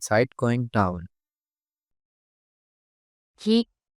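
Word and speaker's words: キ: Ki, Ki, The pronunciation of character Ku in Japanese is something like the combination of KOO in English.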